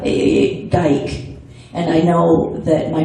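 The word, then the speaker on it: Gyke: It's G-Y-K-E, but it's G-Y-K-E. pronounced the same way, yeah. Yeah, Geik.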